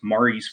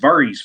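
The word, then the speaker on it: Mhairi: uh it is a tune that i usually know as mari's wedding but it's correctly pronounced vari's wedding um so mari's wedding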